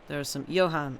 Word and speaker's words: Johan: Johan, okay. Okay, I'm going to mispronounce some of the names in this, I think.